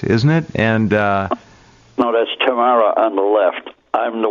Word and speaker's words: Tamara: Yeah, this was in Nuremberg, and her name, we would say Tamara. She pronounced it Tamara.